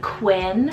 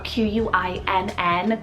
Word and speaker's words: Quinn: a boy I've been also loving the name Quinn spell q-u-i-n-n Quinn this is definitely a lot more trendier